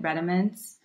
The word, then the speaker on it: Redomance: I always tell people that, but I just pronounce it Redomance.